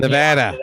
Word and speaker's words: Nevada: And so I think they're really not putting any money in Nevada. You got to say it right, brother. Nevada. I guess I got to get to Nevada before I actually do it.